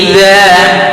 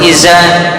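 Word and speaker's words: إذا: Wal-laili idza, dza tidak boleh iza, dza lidah diantara gigi seri atas dan bawah digigit.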